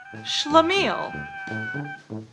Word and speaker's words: schlemiel: SCH words that take the sh sound usually come into English from German, Russian, or my personal favorite, Yiddish.